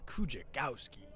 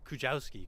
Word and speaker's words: Kujawski: That's Kujagowski. Try to spell that one, folks. Kujawski, correction.